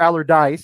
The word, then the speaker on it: Allardyce: I know why you go for Haller if you're facing relegate. I'm sorry, Allardyce. I just left out the last syllable. I know where you go for Allardyce if you're facing relegation.